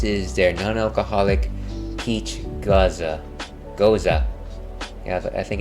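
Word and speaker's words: Gose: is a is a goza goza uh it's it's like hey ALS isn't that pronounced like goose are are you talking about a goose uh no I am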